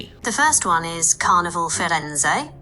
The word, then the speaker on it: Firenze: Oh no, I asked Google how to say it and she told me the first one is Carnival Fenz pronounced Carnival Fenz.